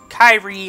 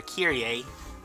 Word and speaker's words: Kairi: I put Kairi on Ryu, or Kyrie. I've been pronouncing it Kyrie because the other pronunciation just reminds me of someone who even the Brooklyn Nets don't seem to want, I'm assuming.